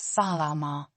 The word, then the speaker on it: Salama: Example: Salama, hello, is pronounced Salama.